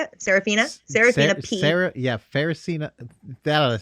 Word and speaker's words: Seraphina: question is sephraphina is how you say it Seraphina Sarah yeah Pharisee that a Seraphina pecula that's